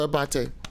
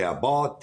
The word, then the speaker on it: Abate: Did I pronounce that right, brother Abate? Yes. All right. Perfect. Yes. You see that, Sebastian? Yeah. You're one of the few ones say my last name. Everybody say Abate, Abate.